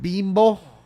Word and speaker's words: Bimbo: It's pronounced bimbo.